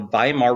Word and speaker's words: Weimar: So in Germany, they create what's called the Weimar Republic. Remember, W's in German are pronouncing a V.